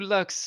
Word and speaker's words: Lux: My name is Lux. It rhymes with trucks, and also ducks, and also flux, and also...